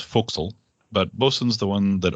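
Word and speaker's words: forecastle: that's the boson whistle there are other nautical terms that do the weird pronunciation too like for castle being pronounced foxel but bosun's the one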